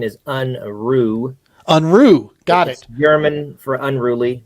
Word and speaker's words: Unruh: sir hey good afternoon guys so help me pronounce the last name unra is that right it's it's close I've been called uh many things uh the correct pronunciation is unre unru got it German for unruly but I'm I'm